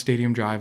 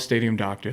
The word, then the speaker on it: Stadium Dr.: It's it's pronounced Stadium Drive, obviously, but I don't think it's too big of a leap. And if you want to call it Stadium Doctor, then that's fine, too.